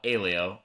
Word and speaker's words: Aleo: uh I the the the founders call it Alo rhymes with paleo but uh we even